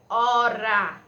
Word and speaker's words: hora: Tenho aqui a palavrinha hora. Como vocês percebem, a gente não pronuncia, certo? É como se a gente não pronunciasse, passasse direto para a letra seguinte, né?